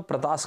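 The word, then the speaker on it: Pratas: चलिए एक और मैप था शायद, ये छुटपुट आइलैंड्स, इसको बोलते हैं प्रैटस आइलैंड इंग्लिश में, और प्रतास कई बार इंग्लिश हिंदी में बोलते हैं, वैसे इसका इंग्लिश में प्रोनाउंसिएशन प्रैटस आइलैंड है।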